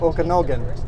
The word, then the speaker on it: Okanogan: I can't say it we say Okanagan us they say Okanogan there we go got it that time we see we say with an a they say with an